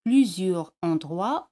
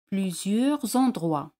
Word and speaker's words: plusieurs endroits: Aquí la liaison es facultativa. Podéis pronunciarlo así, plusieurs endroits, o hacer la liaison y decir plusieurs endroits.